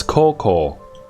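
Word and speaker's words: 高校: Okay, I didn't have the right pronunciation, but it is high school. It's Koko. High school.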